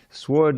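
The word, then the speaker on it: sward: sword is not a it's not a sword it's a sword is a meadow believe it or not and you know why I picked that word because it rhymes with Lord and off they ran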